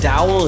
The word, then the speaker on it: Dowell: i'm joined today with is it a dowel is that how you pronounce it correct perfect yeah victory and i'm